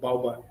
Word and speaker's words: bao bun: it pronounced bao bun?